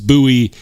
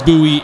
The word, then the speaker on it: Bowie: something up right now it's not David buoy it's it's h David Bowie is the singer James buoy is the famous fighter there we go go spare me it's been it's been a long week okay I'm tired I've had very minimal sleep this week James buoy and David Bowie so it's the buoy knife because it's named after James buoy and I will stick